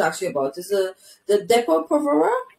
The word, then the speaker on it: Depo-Provera: So the first one that I want to ask you about is the Depo-Provera. Correct me if that pronunciation is correct.